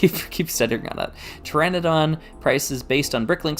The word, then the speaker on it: Pteranodon: sorry Maniac for bricks uh was saying uh Pteranodon that's how you pronounce that that keeps you keep stuttering on that Pteranodon price is based on Bricklink six months ago